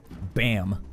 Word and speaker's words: BAMN: by any means necessary bam but spelled like Dam B A MN it's like bam and damn mixed together bam all right here